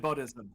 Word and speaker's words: Buddhism: You said Buddhism. That's the correct pronunciation.